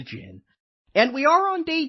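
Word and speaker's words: djinn: The d is silent. It's just a jin.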